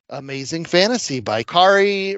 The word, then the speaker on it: Kaare: like Amazing Fantasy by Kari Rhymes with Atari Andrews in Treasury Edition form or regular comic edition form.